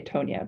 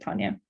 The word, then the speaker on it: Tonia: So some people say Tonya, but she pronounces it Tanya.